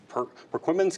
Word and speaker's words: Perquimans: Jason is the principal in Perquimans County. Did I pronounce that right? Yes. Perquimans County.